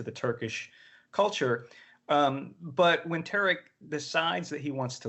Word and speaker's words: Tariq: I'm sorry, is that how you pronounce the Tariq? Tariq.